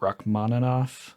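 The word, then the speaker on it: Rachmaninoff: Um, is it Rock Manov?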